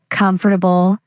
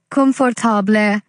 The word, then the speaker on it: comfortable: Comfortable. Many say confortable, but it's actually comfortable, kvmftpl.